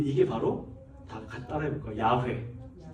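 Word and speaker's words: 야훼: 야회. 야. 이게 야회예요.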